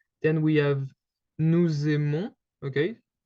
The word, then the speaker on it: nous aimons: Then we have nous aimons, okay? So you can hear the S because we kind of do this little link between the two words.